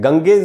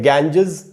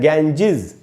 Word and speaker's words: Ganges: गाँव में, कस्बों में, गंगेज, वो भी दोस्तों इसका गलत प्रोनाउंसिएशन है, गंगेज नहीं होगा। हमको लगता है कि गंगा है तो गंगेज होगा, लेकिन गंगेज नहीं है। इस वर्ड के दो प्रोनाउंसिएशन है, एक है गैंजेस और दूसरा है गैंजिज।